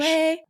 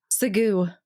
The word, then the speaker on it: segue: Segue. Sagoo. People really think that the word is sagoo instead of segue.